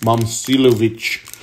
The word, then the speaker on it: Momcilovic: Rekia Jackson, Zayden High, Dennis Evans, and Milan Mimsilovic, Iowa State. Milan Mimsilovic. Let me say it like that. Maybe it makes it a lot easier to say. Say it like Russian. Momcilovic.